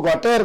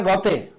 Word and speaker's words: Gautier: उच्चारण है Francois Francois, और GAUTIER उसको जिसको गॉटेर गॉटेर में पढ़ता था, और जागरण गॉटेर छापता भी है आज भी उनके लेख में, उसका फ्रेंच उच्चारण है गॉते फ्रांसवा।